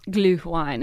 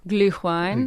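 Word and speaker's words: Glühwein: Gluine is what how they pronounce it. Glu. Gluine.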